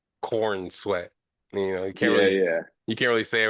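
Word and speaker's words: Corenswet: Corn sweat. Corn sweat. Well, it's spelled C O R N. Uh C O R E N S E W T. So it's like corn sweat.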